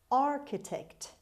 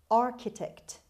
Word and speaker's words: architect: word number one architect architect architect the stress is at the beginning pay attention to the pronunciation of ch in this word ch is pronounced ke